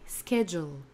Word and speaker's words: schedule: Notez qu'on prononce bien schedule, ske, un CH dur, comme si c'était la lettre K.